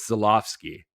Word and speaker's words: Żuławski: done that to was Żuławski. And then I realized, oh yeah, his W's a V.